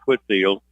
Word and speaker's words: Whitefield: game three and then Whitefield Academy or do we call it Whitfield Whitfield Whitfield Academy White Field but pronounced quit field and they're coming in